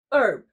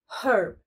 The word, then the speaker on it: herb: Especially in American English, the H is silent, so it's herb. However, in British English, the H is pronounced, making it herb.